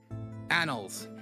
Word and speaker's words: annals: a nous so i did say it right annals the animals of history don't mind me my